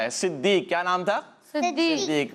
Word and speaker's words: صدیق: صدیق. بات میں نے عرض کی تھی کہ صدیق پڑھ رہے ہوتے ہیں, صاد پر زبر لگا دیتے ہیں.